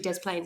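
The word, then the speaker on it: Des Plaines: But I promise you Dez plane is how they say it.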